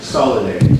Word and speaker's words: Salada: Salada. Salada. Okay. I apologize for mispronouncing your name.